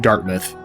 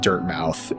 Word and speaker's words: Dirtmouth: text came up, and I called it Dartmouth, which, you know, there are cities called Dartmouth and spelled D-A-R-T-M-O-U-T-H. And of course there's Plymouth, which ends in M-O-U-T-H and is pronounced Plymouth. But, you know, now that I'm looking at this, I think this is actually pronounced Dirtmouth, and I think that makes more sense because this city or